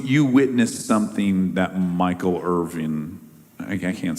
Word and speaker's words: Irvin: witnessed something that Michael Irving I can't say his name is Irvvin Irvin. Not Irvine. Not Irvine and not Irving. No, it's Irvin.